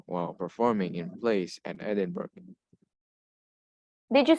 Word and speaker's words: Edinburgh: kingdom a lot of people are reading at edinburgh but actually is edinburgh i know it sounds funny like how can you pronounce bra but this is what it is